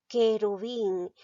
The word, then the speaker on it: querubín: lado y la e pero pronuncia la palabra querubín estoy pronunciando la uv está uno pronuncia no por lo tanto aquí no hay dos vocales seguidas solamente hay una entonces esta palabra no tiene diptongo porque recuerda el diptongo se produce cuando hay dos vocales seguidas y en querubín no pronunció la uv entonces cuál sería mi